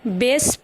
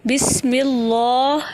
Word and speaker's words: بسم اللہ: بسم اللہ، بسم اللہ۔ بس کو بیس پڑھنا یعنی پھیلے ہوئے لہجے میں پڑھنا غلط ہے۔ ملا کو ملا پڑھنا